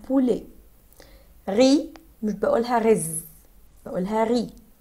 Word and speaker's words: poulet: Pour le masculin, premièrement, poisson, poisson, répétez avec moi, poisson, poulet, poulet, poulet, الET ما بنقولهاش ات بقولها poulet.